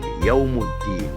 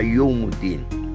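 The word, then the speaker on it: يوم الدين: La bonne prononciation c'est Yawmiddin, Yawmuddin, Yawmuddin.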